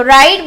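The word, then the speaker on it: Wright: डब्ल्यू से start होता है पर डब्ल्यू क्या होता है? साइलेंट होता है। तो राइट ब्रदर्स इन्वेंटेड एरोप्लेन।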